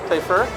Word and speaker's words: Typhur: Is that how you pronounce it, Typhur? Yes. Typhur.